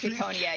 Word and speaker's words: Ciconia: Yeah, it's pronounced Ciconia, yes. That is what the katakana reads as, and that is what Rikishi said, because he talked to someone with an accent when he was talking about the name, and he liked the way that it sounded in his accent, so he went with that pronunciation.